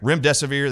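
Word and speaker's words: remdesivir: pathologist said Dr Artis just tell your audiences to call it run death is near so run death is near Rim desevere that's how you remember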